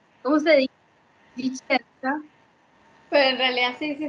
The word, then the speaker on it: Discenza: Vicenza.